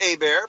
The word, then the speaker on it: Hebert: all right well my last name is pronounced a bear but it is spelled heb je y le